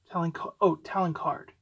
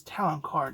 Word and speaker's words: Talon Karrde: I think it's Talon Card. That's how, I think how they pronounce it in the thing.